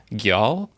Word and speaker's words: Geal: I believe it is pronounced gyal. So it is Geal, gyal.